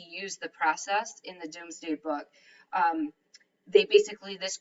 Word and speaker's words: Domesday: was actually called the Doomsday Book so it looks like domesday on here but it's pronounced doomsday um basically they called